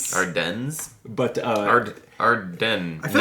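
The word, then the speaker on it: Ardennes: I think I've always said Ardens. Ardens. But uh Arden, I feel like in proper if it's French, you wouldn't pronounce the S.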